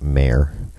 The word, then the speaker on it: Maher: mayor or bill maher who pronounces it mayor loves to make jokes